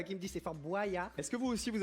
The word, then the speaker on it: Boyard: Il paraît que je le prononce mal. Moi je dis Fort Boyard. Il faut dire Boyard.